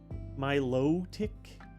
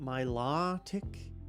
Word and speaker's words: Milotic: Milotic, not Milotic. You know what I'm talking about. That's all that matters when you're pronouncing a Pokemon.